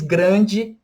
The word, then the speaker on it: grand: Em português, grande tem um E e a gente pronuncia tudo. Em francês, grand, grand com um D no final, a gente não pronuncia o D.